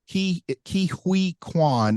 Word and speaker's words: Ke Huy Quan: But I say Ke Huy Quan when I say his name. I know it's not Hui.